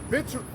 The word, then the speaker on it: victuals: This second Ezra 16-21, it says, behold, victuals, I'm trying to say it right. It's actually, the C is actually silent. That's right, victuals.